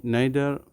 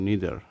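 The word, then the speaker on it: neither: এরপরে 4 নাম্বার যদি দেখি, নাইদার এবং নিদার। নাইদার হচ্ছে ব্রিটিশ উচ্চারণ, নিদার হচ্ছে আমেরিকান উচ্চারণ।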